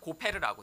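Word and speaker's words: גֹּפֶר: 그냥 원어도 히브리어로 읽으면 그냥 고페르라고 되어 있어요.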